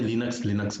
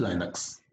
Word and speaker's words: Linux: लाइनक्स जिसे हम लोग बोलचाल की भाषा में लिनक्स बोलते हैं। It's real pronunciation is लाइनक्स।